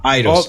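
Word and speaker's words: Eidos: I don't know how do you say that e d oos idos idos yeah idos interact yeah yeah they bought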